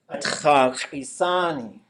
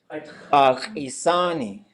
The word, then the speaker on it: ushik'éiyi: Ushik'éiyi. Ushik'éiyi.